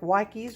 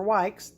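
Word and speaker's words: Dr. Wyche: yellowish orange tomato and there's some controversy on about how to pronounce that but just because i like the dr witches better than i like wikis or whites i call it dr witches then there's this is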